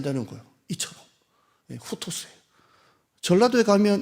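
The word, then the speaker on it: οὕτως: 발음으로 따지면 헬라어로 후토스라고 하는데요.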